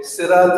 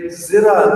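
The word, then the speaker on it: صِرَاط: of the pronunciation, is you'll have one Imam say, Sirat al-Ladina an'amta alayhim, while another Imam will say, Zirat al-Ladina an'amta alayhum. This is simply pronunciation.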